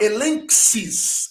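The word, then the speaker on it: ἔλεγξις: A palavra elenxis, que é reprovação, repreensão, também, olha ali, observe o gama e o xi.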